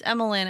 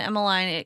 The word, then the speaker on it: Emiline: The problem to me with Emiline is like pronunciation issues. Emiline. Emoline. It can sound like a double name.